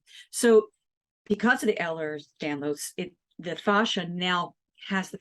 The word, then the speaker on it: Ehlers-Danlos: For her, because the Ehlers-Danlos, am I saying that right? Yep. Yep. How do you spell that, by the way?